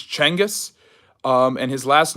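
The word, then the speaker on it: Genghis: their enemies um it genas is not so genas is is the mispronunciation that we we use it's chenis um and his last name is uh is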